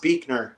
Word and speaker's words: Beekner: It's pronounced Beekner, like a bird beak and then ner.